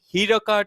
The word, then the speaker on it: Hiraka T: And if you've been enjoying the broadcast, you can find Hiraka T. It's pronounced Hirak, but it's spelled Herrakat.